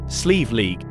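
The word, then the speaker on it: Slieve League: Sleeve League cliffs, often pronounced as Sleeve League, meaning mountain of stone pillars, are located in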